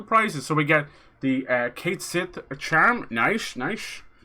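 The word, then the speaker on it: Cait Sith: There's always a worry about how to pronounce that name. Catsit. It's kind of Irish, kind of Gaelic, so it's a bit tough. We would say Catsit, but Catsit is, I think, is fine too.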